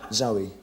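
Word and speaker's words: Zowie: Zoe, Your son's name is Zoe Bowie.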